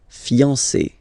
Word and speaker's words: fiancé: end of fiancé, but then you don't pronounce it phonetically. Whether it's masculine or feminine, it will still be fiancé. Okay, so if a man is talking, he will say je suis fiancé. If a woman is speaking, she will say je suis fiancé. Okay, so phonetically it will sound exactly the same, but if they